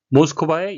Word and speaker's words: Moscow: 긴장의 고조에 대해 경고했습니다 모스코바의 영어식 발음은 모스코 되겠고요 크린의 영어식 발음은 크린이